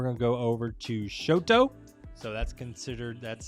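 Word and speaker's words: Chouteau: here and we're going to go over to Shoto so that's considered that's spelled Shoto and they have this really great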